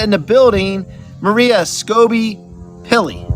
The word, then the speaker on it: Skobe-Pilley: in the building Maria scoby pilly did I pronounce that right almost perfect yeah hi awesome I apologize